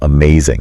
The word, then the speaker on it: amazing: saying the word yourself, amazing? Amazing. And the sentence, the fireworks show was amazing. Yeah, and notice how like there's that emphasis on that second syllable.